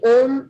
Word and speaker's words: Om: David, if you see the way Om is written and the way it is written as O and a dot. Dot is a nasal sound.